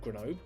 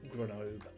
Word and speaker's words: Grenoble: Short drive from Annecy to Grenoble, or Grenoble, I think is how you say it correctly.